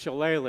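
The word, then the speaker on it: shillelagh: It's always been pronounced challe, you know, from from my memory.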